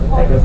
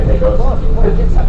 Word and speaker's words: Pecos: So if you go, or actually, by the way, it's actually pronounced Pecos, but we all say Pecos.